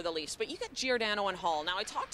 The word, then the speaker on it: Giordano: Becky, it's Giordano. That's right, that's Giordano. How you say it.